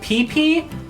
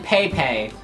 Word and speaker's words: Pepe: First of all, I always pronounced Pepe. I think I still pronounce it wrong, like PP at first and then Pepe.